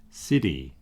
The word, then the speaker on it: city: Another thing that you'll hear is the T in the middle of a word, especially in the United States and some areas in Britain. The word city can be pronounced city. Okay? You'll see how similar that is. That T sound in America is the same as the R sound in Spanish, or it's very, very similar.